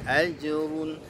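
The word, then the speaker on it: أَجْرٌ: Ajrun ya, ajrun jimnya dikolkolahkan tipis jimnya aj, jangan aj tapi ajrun ya.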